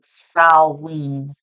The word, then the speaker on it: Samhain: I actually had a viewer who made a comment and said that it's pronounced as Salween. Me personally, I say Samhain, but I looked it up, and depending on what part of the world, 11:11 on the timer